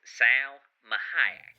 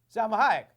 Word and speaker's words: Salma Hayek: Maybe if you say my name all weird, but my name is actually pronounced Salma Hayek. Yeah, Salma Hayek, like the actress.